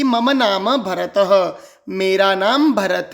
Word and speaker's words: भरतः: मम नाम बोलिए मम नाम भरतः जो आगे दो बिंदु दिखाई दे रहे हैं इसे विसर्ग कहते हैं। विसर्ग का उच्चारण ह का उच्चारण करना है।